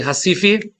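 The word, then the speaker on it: Recife: the town in Brazil it's always you know it's spelled Rif right but it's actually Hifi that was the town that they lived in and there were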